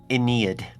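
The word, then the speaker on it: Aeneid: I'm I'm looking on Wikipedia right now. It's pronounced Inid.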